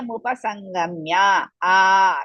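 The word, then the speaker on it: मुपसङ्गम्य: Acharya mupasangamya. Dirgha, big, second one, not the first word. Second, charya, cha is dirgha, ra is half, ya Rasva, mupasangamya.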